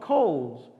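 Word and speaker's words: Cole's: right across the street it's called Kohl's and I it was my first headlining yet like the clothing store no one goes to it's spelled CE o le pretend they're letters right in front of me see Oh le s ho give my boy catch my drift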